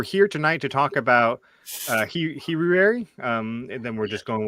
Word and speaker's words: Heruary: Brother Aaron likes to pronounce it as Heruary. Heruary.